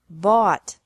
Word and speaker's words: bought: bring brought brought buy bought bought catch caught caught fight fought fought seek sought sought teach taught taught think thought thought remember that the g is silent in these verbs verbs with three different